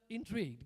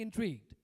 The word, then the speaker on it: intrigued: So intrigued, getting intrigued. As a matter of fact, I used to pronounce it as intrigued, okay, because it's G-U-E-D. Later, I got to know it has to be pronounced as intrigued.